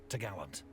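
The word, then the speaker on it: topgallant: trees which secured the top gallant mast pronounced tagaland the cross trees was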